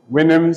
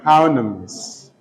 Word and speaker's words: Houyhnhnms: Winims is the primary pronunciation of the word. Some also call it Houyhnhnms, all right? But Winims is the primary pronunciation. It is spelled Houyhnhnms, Winims.